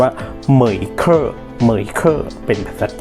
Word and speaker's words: MEIKE: ไม่ ถนัด นะ ครับ จริง ๆ มัน น่า จะ อ่าน ว่า เหมย เกอร์ มือ อีก เกอร์ เป็น